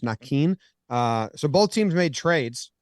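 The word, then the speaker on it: Naquin: And Nakin, Tyler Nakin says it's supposed to be pronounced Nakin.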